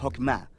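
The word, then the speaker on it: חכמה: hacemos Qué es esta fuerza en hebreo se pronuncia hokma y usualmente se traduce al español como sabiduría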